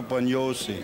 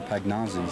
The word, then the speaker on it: Pagnozzi: That's right. And that's the way you pronounce it. That's, you know, I mean, that's the way they pronounce it over there. I've had brothers that have played over there, and you know, I was born here, and that's all I know is because when they came over, it was, you know, somehow it was changed the pronunciation to Pagnozzi.